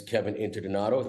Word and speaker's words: Kevin Interdonato: My name's Kevin Interdonato.